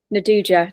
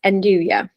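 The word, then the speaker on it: 'nduja: if you don't know what andouja is, it's spelt Enduja, like with a J at the end, isn't it? And Yep. some of the Italians fondly call it Naduja, don't they? Just as a funny way of saying it. But yeah, it's andouja.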